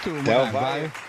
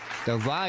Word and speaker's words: Del Valle: Del Valle. Del Valle.